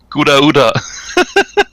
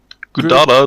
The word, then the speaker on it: Gouda: It looks So I just looked up how to say Godora, and according to my source selection, it's actually Gouda.